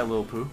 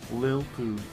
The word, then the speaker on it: Lilpooh: by odds one by little poo yeah lil poo yeah i have trouble pronouncing that lil lil i keep wanting to say like little and put like a t sound in there you need enough hair